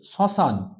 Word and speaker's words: শ্মশান: নিজের রূপে বহাল থাকছে অনুনাসিক শ্মশান আমরা উচ্চারণ করি শ্মশান আরো উদাহরণ হচ্ছে স্মৃতি